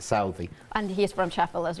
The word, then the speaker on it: Southey: Some people might pronounce it as Southey, but Chris, the director, and I pronounce it Southey.